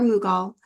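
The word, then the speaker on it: Mughal: magnificent Islamic Mogul Gardens pronounced Mogul or mugal um in your last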